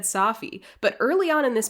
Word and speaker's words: Safi: It's pronounced Safi. He's of Syrian descent. It's Brian Safi, from what I understand.